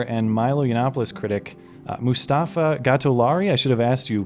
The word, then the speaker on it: Gatollari: With me, I have Distractify senior editor and Milo Yiannopoulos critic, Mustafa Gatollari.